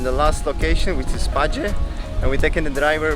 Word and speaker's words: Paje: It's actually pronounced Paje and not Paje, like I thought.